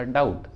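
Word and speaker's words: doubt: For example डाउट, अब डाउट root word है और इसमें टी भी आया है और टी के जस्ट पहले बी है तो बी साइलेंट होगा, तो इसका प्रोनाउंसिएशन होगा डाउट, डाउट। देखिए यहाँ पर बी का उच्चारण नहीं है।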